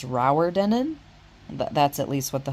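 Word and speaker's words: Rowardennan: got to our hotel here, and apparently it's pronounced Rauerdenen.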